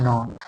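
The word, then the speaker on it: know: देखो के जो है ना इसमें नौ पढ़ेंगे कि के क्या रहता है? साइलेंट रहता है।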